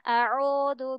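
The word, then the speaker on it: أعوذ: Kalau setengah-setengah nanti akan mengarah ke O. Contohnya a'udzu billah. Nah, a'udzu. Nah, jadi kan dia kurang jelas ya. Pelafalannya ke arah U-nya tuh kurang jelas. Jadi kita harus mencucukkan bibir kita. Sempurna, bulat ke depan.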